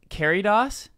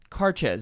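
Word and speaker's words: Càirdeas: We've been saying Caridos. That's totally wrong, by the way. Oh, I said that because that's what you said. Oh, well, it's wrong. Okay. Carches. Pfft. Carches is how it's pronounced. Sure, of course it is. Naturally. Because that's why the D is there. Right. And that's why it's spelled like Caridas. Right. Or Caridias. Right. Carches. That's how you pronounce it.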